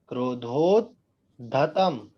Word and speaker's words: क्रोधोद्धतं: क्रोधोद्धतम, क्रोधोद्धतम, आधा दा है और पूरा धा है, धा धनुष वाला। क्रोधोद्धतम फणिन मुत्फण मापतंतम।